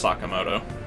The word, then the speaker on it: Sakamoto: alright see ya every time I've ever seen it's spelt like that it's Sakamoto that's a comma - it just irks me